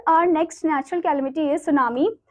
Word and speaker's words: tsunami: सो नाउ our next natural calamity is सुनामी. So basically ये जो सुनामी word है इसको आप कभी भी सुनामी करके नहीं बोलोगे, टी इसमें साइलेंट है.